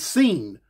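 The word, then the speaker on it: Sean: homeboy sing is really s e a n Shan but instead of saying Shan he pronounce it scene his homeboy big scen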